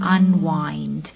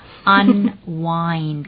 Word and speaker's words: unwind: คือ กอ กับ unwind unwind u n w i n d อย่า ไป อ่าน ว่า Un Win นะ Un Wine การ Wine นี่ การ